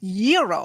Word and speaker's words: gyro: and line at Papa Gyros I order the gyro Supreme suddenly the lady behind me chimes in it's pronounced Euro then the fellow behind her says it's a gyro I turn my back